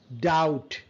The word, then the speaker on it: doubt: Doubt. B is silent. Doubt.